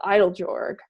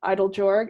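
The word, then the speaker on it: Eiteljorg: including um collecting contemporary native art is the idol jorg e i t e l j o r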